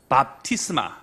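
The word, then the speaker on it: βάπτισμα: 밥티스마. 명사로 얘기할 때 뭐라고 한다고요? 밥티스마. 예, 우리 교회는 꼭 식사를 하죠. 밥을 먹는단 말이에요. 그러니까 밥티스마 이렇게 여러분 바리스마 이렇게 생각하셔도 좀 될 겁니다.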